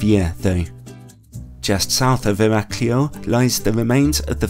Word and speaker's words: Heraklion: In the central north coast of the island lies its capital city of Heraklion, or more properly pronounced, Heraklion.